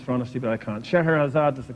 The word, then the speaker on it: Scheherazade: Scheherazade. No, Scheherazade. You knew it, but you didn't. Couldn't pronounce it.